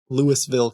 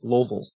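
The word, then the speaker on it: Louisville: They would always ask me where I lived and and so I would say Lewisville, Kentucky. And then people were like, "No, it's Loville."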